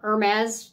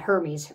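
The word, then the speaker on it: Hermès: If you're familiar at all with Birkin or Hermes, it's probably how it's pronounced, not Hermes, Hermes, their Birkins, a lot of them cost more than a house, $300,000 and up.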